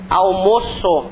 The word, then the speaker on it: almoço: eles TM pronúncia diferente se é o verbo como é que fica a pronúncia dele eu almoo a pronúncia aberta né agora substantivo o almoço a pronúncia é fechadinha n a pronúncia é fechada então eles são considerados